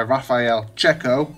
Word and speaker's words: Raffaele Cecco: Now this was made by Raffaele, Cecco, Dolphin Nation told me how to say his name properly, Nigel Brownjohn, and music by Nick Jones.